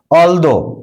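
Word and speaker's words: although: Those, দ এর উচ্চারণ করছি। অলদো, টিএইচ এর পরে ও রয়েছে।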